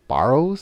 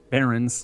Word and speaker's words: Barrens: There's a museum up there near the Barrows. Is that how you say it? Barrows? Barrens. Barrens.